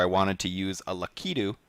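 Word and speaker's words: Lakitu: wanted to use a lukidu did i pronounce that right yeah let's go with lakka too eric said it more confidently than david but that's right but it found out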